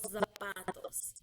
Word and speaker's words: zapatos: to try to put like the stress on the O or on the second, or on the first day, los zapatos, or los zapatos. But the stress should be on the second to last syllable, los zapatos. Okay?